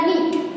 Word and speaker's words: know: Okay, इसमें भी same KNOW यानी नो नहीं होगा, क्या होगा, नो। डू यू नो हर, क्या आप उसे जानते हो, ऐसे। तो यहाँ पे भी साइलेंट क्या हो गया, K।